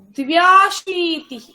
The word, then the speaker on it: द्व्याशीतिः: अशीतिः न न न द्वे न उच्चारणं सम्यक् करोतु। द्व्याशीतिः अशीतिः द्वे अशीतिः त्वे अशीतिः द्व्याशीतिः त्र्याशीतिः पुनः वदतु शक्नोति।